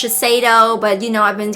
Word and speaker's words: Shiseido: and show you guys and i know it's pronounced shiseido but you know i've been calling though for